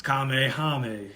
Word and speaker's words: Kamehameha: up he was about to say it wrong it's kamehameha come on now i said